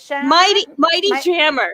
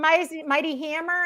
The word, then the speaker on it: Mighty Jammer: I'm really sorry. Mighty Jammer. Mighty Jammer. Mighty Jammer. I got it. Okay. All right. You won. Mighty Hammer. It's the Mighty Jammer.